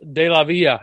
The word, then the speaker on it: Delavilla: first sergeant for my Army Reserve unit, Delavilla.